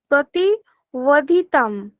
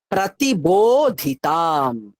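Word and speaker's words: प्रतिबोधिताम्: প্রতিবোধিতাম। প্রতিবোধিতম। তুমি বোটা দুটো ঠোঁটকে চেপে উচ্চারণ করো, এটা বর্গীয় ব।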